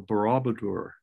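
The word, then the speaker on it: Borobudur: the famous temple in indonesia the temple of barabadur barabadur it's spelled b-o-r-o-b-u-d-u-r temple indonesia 7th century a.d and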